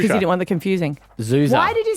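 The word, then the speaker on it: Xuxa: Oh, is it like Zuza? XU. Do you know how X's can be Z's?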